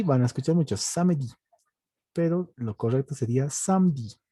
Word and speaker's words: samedi: Los sábados se llaman samedi. ¿De acuerdo? Samedi. La E no se pronuncia. Entonces simplemente samedi.